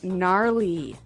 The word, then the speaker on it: gnarly: It's spelled G N A R L E Y. Okay. So, but you don't say gnarly. No, you say gnarly.